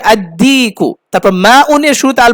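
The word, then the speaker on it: الديك: শামসি হলে আল উচ্চারণ হবে না, আর কমারি হলে উচ্চারণ হবে, এইটা খেয়াল রাখতে হবে। যেমন কমারুন, এর শুরুতে কি হবে, আল কমারু। তারপর দিকুন, এর শুরুতে আল বসিয়েছে, তো কি হবে, আদিকু।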